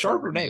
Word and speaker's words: Charbonnet: Is it Charbonnet? Yeah, It's Charbonnet, Charbonnet.